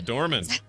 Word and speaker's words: McDormand: McDormand.